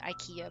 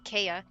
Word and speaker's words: IKEA: Sorry, I want to say it like Americans or US the the IKEA, but it's the Kaya.